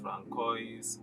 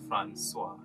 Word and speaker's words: François: And for the record, it is neither pronounced Francois or Francisco or Francisco, not even San Francisco, it is Francois.